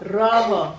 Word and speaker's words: rojo: Rojo? Rojo. Say My kids don't have a Spanish accent. Can you roll your R?